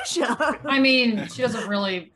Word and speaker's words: Xuxa: Hey, anyway, Dan is here with us today to talk about Shoo-sha. Soo-sha. Shoo-sha. Shoo-sha. Soo-sha. No, Shoo-sha. Every article said it was pronounced Soo-sha. No, did you watch the show? She says Shoo-sha.